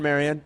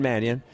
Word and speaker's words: Mannion: I keep calling him Shawn Marion. He isn't. He's Shawn Manion from the Green Bay Packers.